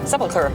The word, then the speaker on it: Sepulchre: Sepulchre Cemetery, because Father Brennan is buried there.